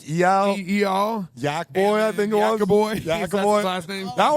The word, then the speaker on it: Yakoby: Yacoboy, I think. Yacoboy. Is that his last name? That one's my favorite. What's going on, honestly? And so, how do you say your last name? Jacobi.